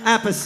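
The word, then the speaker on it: Appice: and blue murder that's carmine apace the correct way to say it and we brought back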